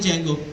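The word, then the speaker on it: Django: एक फ्रेमवर्क आता है जंगो डी जंगो के नाम से होता है जिसका डी साइलेंट होता है जंगो जो है वो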